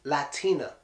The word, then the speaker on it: Latina: mad Tina mad Tina this one does not get the Putin tea why not because the last syllable the very last syllable is ah T space n is not the last syllable the last syllable is up so if you take away that a it would be Latin but just by adding that a which gives it that extra syllable it becomes latina latina just like that latina